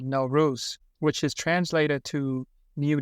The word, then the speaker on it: Nowruz: a really fascinating topic now ruse the Persian New Year pronounce no ruse right that's it so many people probably